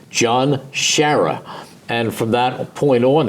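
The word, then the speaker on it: John Sciarra: about his quarterback at UCLA he will say John Shira and you remember John Shire he came to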